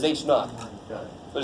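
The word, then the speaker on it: H₀: This is how you pronounce that, is H naught.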